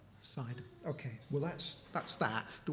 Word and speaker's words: Sidon: We have a project in, how's it pronounced, Shake? Sidon or Sidon? Sidon. But in Arabic it's called Sidon.